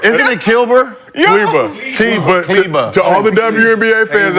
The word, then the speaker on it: Kleber: Yeah, but I'm just saying this is because the reason is Keebler. So because he had elf. Yes. Again. Kilber. Isn't it Kilber? Kleber.